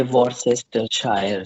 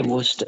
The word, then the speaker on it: Worcestershire: England, you would say Worcestershire sauce. But that's the spelling, right? Yeah, But if you knew the exact real name and the pronunciation, you'd simply say Worcester sauce, and that's it.